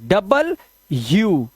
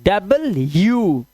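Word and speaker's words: W: अंग्रेज लोग इसको डब्ल्यूडब्ल्यू नहीं करते। इसे बोलते हैं डबल यू। तो ये प्रोनंसिएशन आपको सीखने होंगे sir. This is नॉट डब्ल्यू। आज के बाद इसको बोलना डबल यू।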